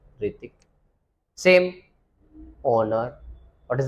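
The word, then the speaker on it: Hrithik: जैसे आपने कई बार देखा होगा ऋतिक रोशन, ऋतिक रोशन में एच पहले आता है, HRITIK, लेकिन हम क्या बोलते हैं? ऋतिक।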